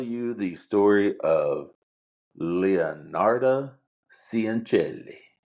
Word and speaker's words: Cianciulli: So this week I am going to tell you the story of Leonarda Cianciulli. Cianciulli.